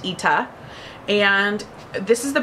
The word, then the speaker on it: ITA: spelled ITA so if you're wondering how to pronounce this and you're calling it The Ida or ITA it's actually called It's pronounced ITA and this this is the brand new one